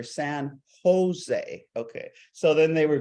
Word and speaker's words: San Jose: We pronounce our J's like Jose, and so you're looking for San Jose."